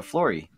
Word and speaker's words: Flory: here's the interview I'm here with author Jessica Flory and did I pronounce that correctly it it doesn't look like